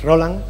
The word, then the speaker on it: Rolán: nuevo jugador diego rolán por cierto que no lleva tilde es roland nos acompaña por supuesto